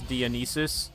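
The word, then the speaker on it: Dionysus: stuff, I I uh pronounced Dianisis as Dionis, which is how you pronounce it cuz you know it's Greek.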